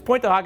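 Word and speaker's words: Pointe du Hoc: the screen right there that's point to hawk France point the ho everyone to pronounce it but it's point to hawk it square our Army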